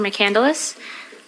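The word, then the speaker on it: McCandless: able to do that state your name and spell it for the record please my name is mandus um e m e z r a m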